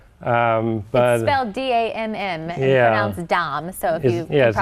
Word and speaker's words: Damm: about my last name because it's very easily mispronounced Lda mm yeah Dom so yes Dom but people said other ways or that one